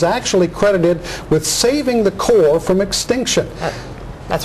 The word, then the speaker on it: Corps: in the name and even Marine Core it's written with a PS but you don't pronounce them and then there are